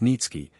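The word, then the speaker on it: Niëtzky: a certain polish nobleman Nikki pronounced nitki had obtained the special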